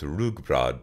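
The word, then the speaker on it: rugbrød: during festivities Danes take a strong alcoholic drink called gamaldansk with rye bread pronounced rugbrod for breakfast making them Tipsy even in the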